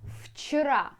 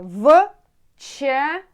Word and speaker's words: вчера: Вчера, like between F and V. Вчера, it means yesterday. Вчера. Вчера, вчера. Вчера это было. It means вчера, it were вчера.